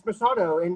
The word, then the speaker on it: Machado: it right and so i've always loved the masado or how do you say it how do you use it yeah and it's masato and here too talking about legacy so we